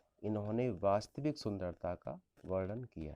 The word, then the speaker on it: Carew: ने लिखा है हैं इनके नाम की जो स्पेलिंग है कि वह सी ए आर डब्ल्यू है इसको देखकर ऐसा लगता है है कि शायद अजय को मैं इसे हमें कैरियर पढ़ना चाहिए लेकिन ऐसा नहीं है कि इसका जो पुलाव सी